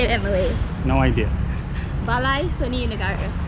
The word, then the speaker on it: Balai Seni Negara: Balai Seni Negara. Balai Seni Negara.